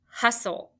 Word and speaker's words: hustle: T-L-E is your consonant L-E exception because that T is silent as well as the E.